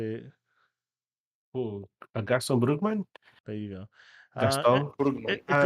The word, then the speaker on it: Gaston Brugman: Ooh, Gaston Brugman?